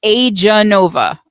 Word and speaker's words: Aeganova: are going to want to ask about the pronunciation. Okay, guys, it's Aeganova.